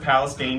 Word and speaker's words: Palestine: It was called Palestine, Texas, which is Palestine, but they pronounce it Palestine, just to be fun.